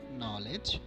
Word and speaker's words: knowledge: Letter K, if it comes before N, can be silent, like no, knowledge, knife, night, need, etc.